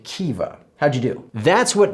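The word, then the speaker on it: Caoimhe: I'd suggest you try pronouncing these traditional Irish names. That would be Niamh, Siobhan, and Kiva.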